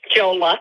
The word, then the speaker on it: Jola: say it for me it's Jola Jola okay that's what I had but people say my name wrong all the time because it looks like AJ and so I hate